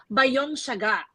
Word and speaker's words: Bayonne: Young I've learned that it's actually not by Young Saga like the designer designer um it's actually Bayonne that's the proper way of pronouncing the business and then we have